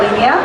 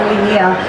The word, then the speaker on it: Linea: I've been in the space for a few years, and we just recently launched a ZK EVM called Linea, and it's not pronounced as Linea. It's called Linea.